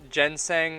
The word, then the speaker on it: ginseng: Lamau, Google told me it's pronounced ginseng, and I'm like, dang, I've been saying it wrong all along.